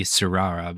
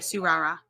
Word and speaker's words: Tsurara: But the Tsurara is Tsura. I'm guessing that's just because the T's in Japanese, I believe, are usually silent. Spell it again. Tsura. Because I know like Suyu Asui from My Hero Academia has a T. Yeah, the T is silent. So I think you're right. Like Tsurara, I believe, is how I would say it.